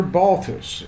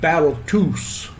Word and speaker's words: Balthus: her a question and she said you're balus and he answered back no I'm battus is how he pronounced pronounced his name he grew